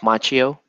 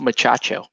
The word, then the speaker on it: Macchio: say we like to in my house we like to mispronounce the name so we call it we say Pat Moriarty and Ralph's muchacho you know that movies